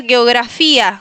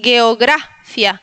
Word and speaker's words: geografia: No digas geografía, di geografia. Si quieres puedes ponerle el acento en la gra.